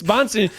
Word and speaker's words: Bonsignore: Wait, so, there's no accent on the second E of your name. We've just been tacking that on this whole time. I'm sorry. What? No, it's Bonsignore.